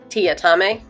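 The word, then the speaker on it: Teatime: assigned to this is TI atame which is spelled tea time but he is the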